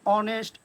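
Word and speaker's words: honest: আবার অনেক সময় আছে এইচ যুক্ত কোনো নাউন বা অ্যাডজেক্টিভ যদি থাকে এবং যদি তা সাইলেন্ট থাকে, যেমন অনেস্ট, honourable, honour, hour, air, অবশ্যই এখানে এই সাইলেন্ট থাকার কারণে তার আগে আমরা এন ইউজ করব।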